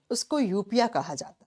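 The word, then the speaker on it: eupnoea: की वोकैबुलरी में पढ़ोगे यूपिया इसको यूपिया प्रोनाउंस करते हैं एन और ई साइलेंट हो जाता है यूपिया किसको कहते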